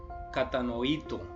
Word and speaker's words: katanoito: Esta palabra viene del griego katanoito, una palabra difícil de pronunciar. Katanoito. Tiene un acento en la O al final, katanoito.